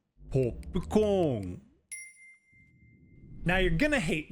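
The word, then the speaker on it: ポップコーン: So, when we see the word for popcorn written like this, we now know we need to pronounce pause here and a long vowel here. So, it's not hopukon, but hopukon.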